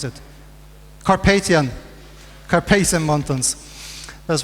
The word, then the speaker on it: Carpathian: coast burien now cuspid Kasparian mountains or do pronounce it Carpathian carpathian mountains as right the sprawl of objects